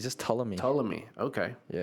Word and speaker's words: Ptolemy: Or I think the P is silent. I don't know. Yeah. But anyways, so let's see here. Ptolemy. Ptolemy. It's just Ptolemy. Ptolemy.